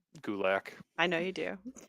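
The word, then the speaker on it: Gulak: reasons I just like gulick I know you do it rhymes with attack he was on yeah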